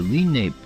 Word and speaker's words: Lenape: The first residents of Moon Lake were members of the Lenape, pronounced Lenape.